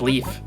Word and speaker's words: Leif: do you say leaf it does pronounce it as leaf okay well i i